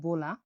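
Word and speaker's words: bola: বি উচ্চারণ হয়ে থাকে বয়ের মতো, উচ্চারণটা হলো বোলা।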